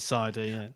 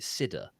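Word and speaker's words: CIDR: basically Bas CID cider I've always pronounced it cider I've always said cider I was on a call with someone he called it Sida that no I don't like that then you start questioning yourself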